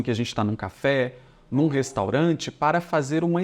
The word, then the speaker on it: Café: Aí eu já tenho das Café, que é uma palavra neutra, e a gente pronuncia assim, olha, café. Então, a tônica recai sobre o E aqui.